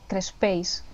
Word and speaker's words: crespells: Sí, porque había una cosa muy rica que se llaman crespells, que se escribe crespels. Y me acuerdo que, bueno, que la L se dice así, ey. O sea, ahí no, I.